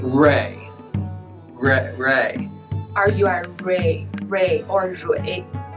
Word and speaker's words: Rui: Okay, and a name you might see fairly common is R-U-I. Right. Ray.